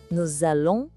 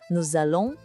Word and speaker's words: nous allons: Nous allons partir. Houve essa ligação? O S da palavra nous se junta com o A de allons. E isso cria um som de Z. Fica nous allons partir.